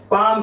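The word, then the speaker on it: palm: तो determine direction of magnetic field magnetic field को determine करने के लिए हमारा राइट हैंड पाम रूल, इसमें एल साइलेंट है, इसकी हेल्प से बच्चों हम मैग्नेटिक फील्ड की डायरेक्शन को डिटरमाइन करते हैं।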